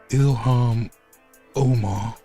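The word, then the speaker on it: Ilhan Omar: Ilam Omar, that that's how you say her name.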